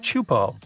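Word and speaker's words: Teahupo'o: It's pronounced Chupo, and it means broken skulls in Tahitian. Yeah, you heard that right, broken skulls. The waves at Chupo are massive and can reach up to 23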